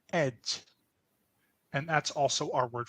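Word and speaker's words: egy: And then we only have one word for a or an, which is pronounced ed.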